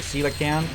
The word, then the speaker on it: coelacanth: The coelacanth.